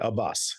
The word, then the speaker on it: Abbas: So I actually found and I'm pronouncing that right, Abbas. It is Abbas.